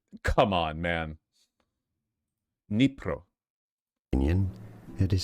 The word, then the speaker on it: Dnipro: So in Ukrainian, it is said as Dnipro.